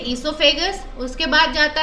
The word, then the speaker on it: esophagus: pipe और esophagus है, ये O यहाँ पे silent है, हम इसे pronounce करेंगे esophagus, उसके बाद जाता है